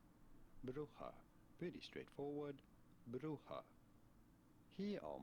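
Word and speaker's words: Brugge: in Dutch or Flemish this name would be pronounced as bruja bruja pretty straightforward bruja here are more videos on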